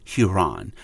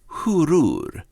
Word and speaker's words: Huron: And Huron is not pronunciated as Huron. It's Hurur.